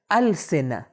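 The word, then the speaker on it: ألسنة: Word. Third word ہے السنہ۔ دیکھیں یہ تا جو ہوتا ہے دو نقطے والا، اگر آپ اس ورڈ پہ سٹاپ کر رہے ہیں تو اس کا تلفظ اور پروننسیشن چینج ہو جاتا ہے اور ہم اس کو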